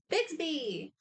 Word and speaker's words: Bixby: You'd be surprised how many people I've actually seen mispronounce this. Bixby. Correct. Just like Samsung's digital assistant.